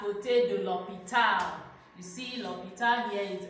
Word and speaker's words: l'hôpital: Example, j'habite à côté de l'hôpital. You see, l'hôpital here is l apostrophe. That H is silent. J'habite à côté de l'hôpital.